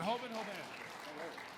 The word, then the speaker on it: Hoban: Is it Hoban? Did I pronounce it right? Yeah.